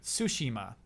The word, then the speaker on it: Tsushima: Ooh, they correct me on that actually too. Tsushima. Huh. Equal emphasis. Oh yeah, there's no stressing of Sushi. syllables Yeah, in yeah.